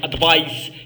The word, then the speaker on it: advice: إذا وحدة النصيحة advice هي النصيحة و advise هي تنصح وتتنطق s'il vous plaît وحدة لو نو تتنطق advice like we pronounce ice and the verb advise eyes.